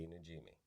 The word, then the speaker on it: Najimy: Jessica Parker, and Kathy Najimy. Najimy, that's how you say it.